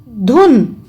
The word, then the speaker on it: धुन: देखिए धूप और धुन, तो दोनों की मात्राओं में कितना अंतर है? बड़े ऊ की मात्रा का उच्चारण बड़ा हो जाता है, छोटे ऊ की मात्रा का उच्चारण छोटा रहता है।